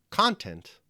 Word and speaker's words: content: Bud burith thy content the word content like the word contract assumes simultaneously two different meanings depending on where you place the stress on the syllables so we have either the word content or content the first